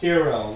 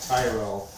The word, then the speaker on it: Tyrrell: And it's pronounced Tyrrell, not Tyrell, because I was corrected one time.